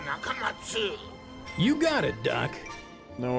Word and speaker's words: Nakamats: He dropped the letter U because he says an 8-letter name is easier to remember, but he still wants you to pronounce it Dr. Nakamatsu.